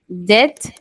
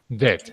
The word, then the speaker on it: dead: Dead. Dead.